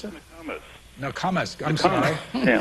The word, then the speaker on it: Nokomis: That's the way you pronounce it? Nokomis.